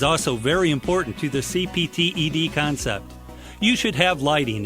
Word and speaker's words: CPTED: CPTED is pronounced CPTED.